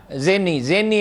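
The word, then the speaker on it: Zinni: لیے، جنرل زینی آیا، زینی ہے صحیح تلفظ ہے، وہ آیا.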